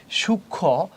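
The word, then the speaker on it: সূক্ষ্ম: এইযে শুক্ন যে ষিয়টা আছে সাথে যে মফলা আছে এটা কিন্তু উচ্চারণ হয় নাই এখানে। সূক্ষ এটা হচ্ছে সূক্ষ।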